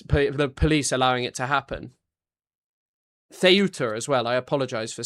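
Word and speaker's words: Ceuta: Theuta as well. I apologize for saying well someone just said it's pronounced uh excuse me theuta uh sorry but when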